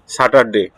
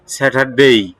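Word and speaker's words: Saturday: First day হচ্ছে কি, আমরা বলি স্যাটারডে, ঠিক না? কিন্তু এটা সাউন্ড, কারেক্ট সাউন্ড হচ্ছে স্যাটারডেই।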